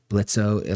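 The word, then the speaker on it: Blitzø: Blitzo. The O is silent. I didn't realize how many times that joke got made, but it really got made so many times. Blitzo, like, we get it, bro.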